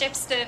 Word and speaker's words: Shepstone: Africa you're from Port shepston South Africa okay yeah it's like Shepstone right pronounced Shepstone I guess it's just the local thank you thanks appreciate